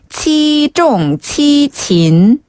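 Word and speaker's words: 七纵七擒: 어죠 자 우선 칠종 7금 중국식으로 발음하면 치종 치진 어 치종 치친 한번 더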